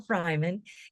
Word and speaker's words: Freiman: Freiman, and it's spelled like Freeman, just so everybody knows, but it's Freiman is here with us.